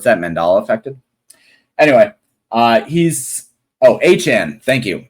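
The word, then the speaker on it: Achane: Anyway, he's Achan. Thank you, Achan.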